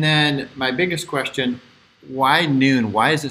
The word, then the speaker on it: Nuun: nowadays great and then my biggest question why noon why is it spelled that way and where